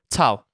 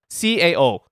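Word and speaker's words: 操: And in Chinese, Shiba, it's Tao. Tao. Tao. That was good? C-A-O. Tao. C-A-O? Tao. Not Cao. Not Cao. Tao.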